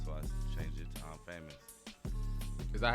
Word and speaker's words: IMxFamous: So I came up with Infamous, and it was too close to Mobb Deep, so I changed it to I'm Famous.